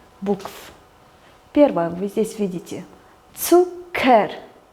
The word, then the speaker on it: Zucker: Цукер. ЦК читается как удвоенное К. Цукер.